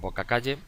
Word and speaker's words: bocacalle: como por ejemplo en boca calle boca tiene su golpe de voz calle el suyo y si yo digo boca calle el golpe de voz la segunda sílaba k bocacalle lo que pasa que